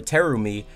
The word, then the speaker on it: Terumi: The kanji for Terumi means shining beauty. However, they are usually pronounced with a longer lengthened I sound.